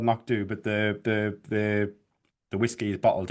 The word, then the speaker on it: Knockdhu: start, but just to be clear, you mentioned Knockdhu, which is obviously the actual name of the distillery, I believe, if I pronounced that right.